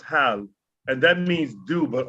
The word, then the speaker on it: hal: That's pronounced hal, and that means do, but only when you ask a question.